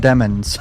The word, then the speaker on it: Demons: I'll never forget in the first trial, suddenly there was a switch where, no, his name is pronounced Demons.